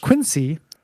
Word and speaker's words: Quincy: with this one example Quincy is pronounced Quincy uh Nahant is pronounced